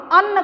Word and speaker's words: अन्न: ध्यान दीजिएगा कि दोनों में उच्चारण में भी अंतर है और उसके अर्थ में भी अंतर है। जहाँ हम इसे अन्य कहते हैं वहीं इसको हम अन्न कहते हैं।